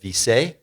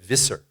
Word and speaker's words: Visser: This is a lovely piece from the hand of Acid Erik and the Dutch blotter maker Ed Visse, or Ed Visser, that's how you pronounce it, Ed Visser.